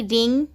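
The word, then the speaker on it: wring: जैसे रिंग, रॉन्ग, answer and showed. देखिए first वाला, देखिए इसमें W के बाद R है तो W यहाँ साइलेंट है, इसीलिए इसे हम रिंग पढ़ेंगे।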